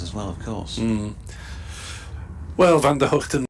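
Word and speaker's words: Van der Gugten: well of course well Van Der hoekton Vander guten they're both frequently widely used to be honest but when he first came over and asked him what it was and he told me it was you know with an H rather than a g at the start so I've tried to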